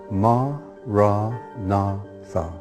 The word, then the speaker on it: Maranatha: If you choose that word, say it as 4 syllables: Ma, Ra, Na, Tha.